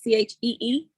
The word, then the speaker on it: Chi: And I just got to say, it's actually pronounced Chi, Bath and Body, like Chee.